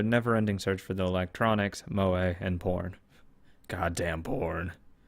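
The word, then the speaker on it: 萌え: entertainment centered around characters who possess such traits pronounced MOA it has some nuts I'm not completely ignorant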